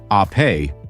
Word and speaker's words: Ape: This is the Vespa ape, pronounced ape, which means bee in Italian, just as Vespa means wasp.